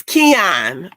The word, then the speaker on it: Kenyon: It's Keon. Keon, thank you. I always want to pronounce the Y. Keon. Yeah. Okay, no Y.